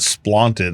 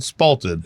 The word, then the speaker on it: spalted: words like like there's a thing that happens to wood called spalted and he always called it spaed I was like dude it's called spalted it's like Trump number